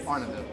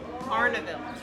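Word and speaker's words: Arnaudville: Arnaville. Arnaville. So no D. It's like Arnold, but no D. I don't really know how to spell it, but I know that it's said Arnaville.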